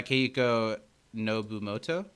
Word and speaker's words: Keiko Nobumoto: This episode was written by Keiko Nobumoto?